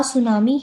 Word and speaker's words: सुनामी: सुनामी की स्पेलिंग आप देख सकते हैं यहाँ पे, ठीक है, टी से शुरू होती है पर टी साइलेंट होता है।